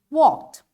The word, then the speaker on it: walked: For example, this is walked. And I wanna say, I walked away. So how I'm saying it? Walked. Now, there is ed, but it's pronounced as T, walked.